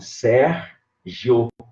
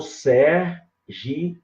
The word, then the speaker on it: Sérgio: Você pode dividir o seu nome, Sérgio, com 2 sílabas, ou Sergi, ou com 3 sílabas.